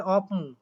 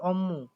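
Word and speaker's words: 업무: এবার এখানে খেয়াল করেন, বোদা শব্দটা আছে, এই যে অম্মু বোদা, এটার উচ্চারণ কিন্তু অনেকে করে অপমু, এটা কিন্তু সঠিক উত্তর না। এটা সঠিক উত্তর বা সঠিক উচ্চারণ হবে অম্মু, ঠিক আছে।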